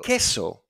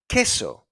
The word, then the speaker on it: queso: So the U is silent as well. Queso. Queso.